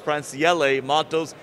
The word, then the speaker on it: Francielle Mattos: I know we've all been mispronouncing it all weekend long. It's Franciele Matos.